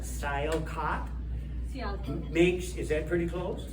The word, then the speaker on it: Sialkot: There is a city in Pakistan, I don't know if I'll pronounce it right, probably not, Sialkot. Sialkot. Is that pretty close? Sialkot.